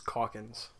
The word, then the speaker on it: Calkins: It's Calkins. Calkins. So like cock for tile, right?